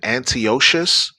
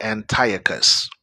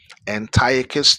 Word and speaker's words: Antiochus: Now I know some Israelite camps uh uh call him Antio. It's actually Antiochus. Okay, Antiochus I 4th Epiphanes.